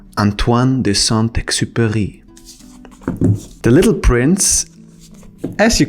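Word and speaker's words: Antoine de Saint-Exupéry: how to pronounce it let me help you because it's French Antoine de santai The Little Prince as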